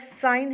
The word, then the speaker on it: sign: मसलन हमारे पास साइन है SIGN, यानी कि ये जी जो है ये साइलेंट हो जाएगा।